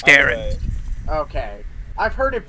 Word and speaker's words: Darren: I always assumed it was Darren. But it is Darren.